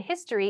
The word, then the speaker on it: history: it not an because the H in history is pronounced as a consonant this is not true